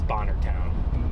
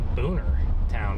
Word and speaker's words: Bonner Town: It's Bonner Town. Bonner Town. Why how why would you say boner town? Because there's not even two o's in that.